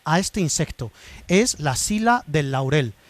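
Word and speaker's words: psila: Es la sila del laurel. Sila se escribe con p y s.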